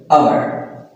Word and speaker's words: hour: And another one is uh For example, hour. So, we can't say that it is hour, it is hour because it start from vowel sound.